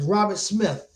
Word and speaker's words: Robert Smith: I had mispronounced his name in the last video. It's Robert Smith.